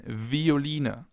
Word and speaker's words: Violine: It can either be pronounced like the F, as in Veilchen, Veilchen, or like a V, as in Violine, Violine, violin.